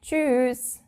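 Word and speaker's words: Tschüss: friends you would say choose but we actually pronounce it a bit longer we tend to say choose I don't know why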